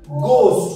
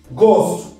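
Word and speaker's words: ghost: নট ঘোস্ট ঘ নয় ঘোস্ট নয় এটা হচ্ছে ঘোস্ট গ ঘ নয় ঠিক আছে ঘ নয় এটা কি হবে গ তাহলে উচ্চারণটা হবে গোস গজ গস ঘোস্ট কি বলবো ঘোস্ট আবার বলো ঘোস্ট তোমার আওয়াজ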